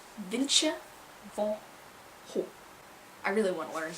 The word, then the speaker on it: Vincent van Gogh: Vincent van Gogh, and the British say Vincent van Gogh. So I was really curious about how you actually pronounce it, and I looked it up online, and they actually have audios of Dutch people, Dutchmen and Dutch, it was a Dutchman, pronouncing it, and it was Vincent van Gogh.